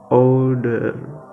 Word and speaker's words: order: don't know how to order food and look at this word old and you notice he pronounced this word order not pronounce this word order not pronounce this letter r and he pronounced this